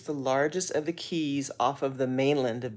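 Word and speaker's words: Caye: so they have these Keys it's it's spelled c a ye so it looks like K but I'm pretty sure it's pronounced key so we're on Amber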